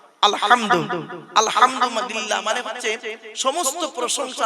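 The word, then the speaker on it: الحمد: বলি আলহামদুলিল্লাহি রাব্বিল আলামিন আলহামদু গলার ভেতর থেকে এটা উচ্চারণ করবেন আলহামদু আলহামদুলিল্লাহ মানে হচ্ছে সমস্ত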